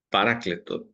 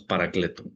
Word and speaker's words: paráclito: al espíritu santo paracleto paráclito tiene acento en la se comúnmente decimos paracleto no sé por qué que es una transliteración no de la palabra griega paráclito que en nuestra